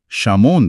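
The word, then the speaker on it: शिमोन: यहाँ लिखा है कि जन्म के समय उनका मूल नाम शामोन था। इब्रानी भाषा में उनके नाम का उच्चारण शीमोन किया जाता था।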